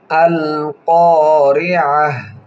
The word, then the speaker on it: القارعة: হবে মধ্যে তবায়ের কায়দা আল কারিআহ আইন হলকের মধ্যখান থেকে উচ্চারণ হবে এবং অক্ফের আগে যদি গোলতা হয় সেই গোলতা হার উচ্চারণ হয়।